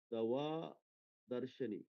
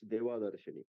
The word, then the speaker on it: Deva Darshani: Uh, Dava Darshani. Deva Darshani. If Deva Darshani. If I pronounce it wrong, please forgive me. Please forgive me. It's Deva Darshani.